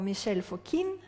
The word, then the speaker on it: Mikhail Fokine: of the Imperial theaters was Mikhail Fokine or Michelle for Kim yeah in Paris pronunciation who was the choreographer